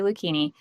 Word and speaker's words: Lucchini: Like zucchini with an L. Perfect. Yep. Joey Lucchini, a longtime member of